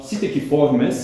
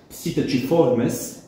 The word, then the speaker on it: Psittaciformes: А ситакиформес е класическото латинско произношение. Ситачиформес, което е църковното произношение, особено във Ватикана.